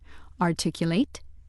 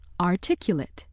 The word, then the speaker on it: articulate: Word four deserves special attention because it has two pronunciations articulate and articulate. Which pronunciation you use depends on how the word functions in a sentence. Let's see how this works. If word for is being used as a verb meaning to pronounce distinctly to express well in words or to fit together into a system, it is pronounced articulate.